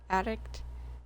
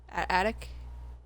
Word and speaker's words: attic: Addict? Attic? Not addict. That's the wrong one. Attic.